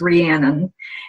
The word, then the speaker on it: Rhiannon: let me say that my name is pronounced Rhiannon it's a Welsh name and so it's a